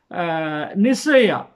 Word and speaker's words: Nicaea: நிக்காயா என்று, அதாவது கிரேக்க மொழியில் நிக்காயா NIKAIA என்று ப்ரொனவுன்ஸ் பண்ணி எழுதி வைத்திருக்கிறார்கள். ஆனால் அது லத்தீன் மொழியில் நிசையா NICAEA என்று இருக்குது, NICE அப்படின்னும் எழுதுகிறாங்க என்று அறியப்பட்டது.